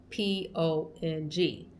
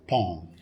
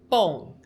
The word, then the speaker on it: Pong: So, in English, it would be pronounced pong. But in Thai, it's pong because in Thai, it has that BP character, so it's BP, pong.